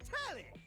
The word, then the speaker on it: Telly: The name's Telly, rhymes with Nelly, like, whoa, Nelly, did you know Telly offers 5,000 channels like an endless deli?